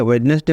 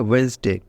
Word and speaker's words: Wednesday: वाई वेनसडे ठीक है वेडनेसडे मत बोलिएगा वेडनेसडे गलत है इसको ऐसे पढ़ा जाता है वेनसडे स्पेलिंग सेम है लेकिन उच्चारण जो है प्रोनंसिएशन जो है वह होगा वेनसडे तो इसको तीन भागों में